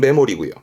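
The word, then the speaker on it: 目盛り: 메모리입니다 메모리 뜻이 뭘까이 한자는 발음도 더 중요합니다 발음은 메모리이고 뜻은 봐요 예를 들어서 저울이다 칩시다 저울 그리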